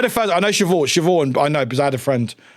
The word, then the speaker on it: Siobhan: This is a female name or a girl's name that is not pronounced like it's spelled.